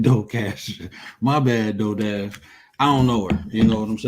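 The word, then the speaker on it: DoorDash: I think it's Docash.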